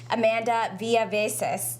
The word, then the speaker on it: Amanda Villaveces: Joining me now is the director of the Mental Health Louisville is Amanda Villaveces.